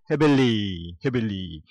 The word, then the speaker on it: happily: carefully ly만 붙이면 되고 easy는 자, 좋은 스펠링이 E-A-S-I로 거치고 L-Y easily 쉽게 happy도 Y-I로 거치고 happily 발음을 잘해야 돼. happily 이건 해빌리.